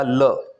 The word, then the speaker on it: la: लीव्र ल लीव्र सेकंड है feminine singular के लिए ला एल ए ला अगर हमें बोलना हो द टेबल तो फ्रेंच में हम क्या बोलेंगे?